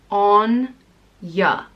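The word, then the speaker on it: Áine: and it means splendor radiance and brilliance it's pronounced on yeah Anya Anya is spelled a I n E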